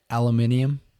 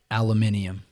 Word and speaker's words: aluminium: That's how it's spelled out. And so the British actually say it. Aluminium.